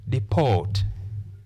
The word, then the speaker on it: deport: Therefore, if we check the two parts, the first syllable has the short vowel sound e, but the second syllable has the long vowel sound o. Therefore, we say deport.